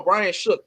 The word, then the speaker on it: Brian Shook: Brian, no, Brian Shook. That's how you said. That's how you pronounce it.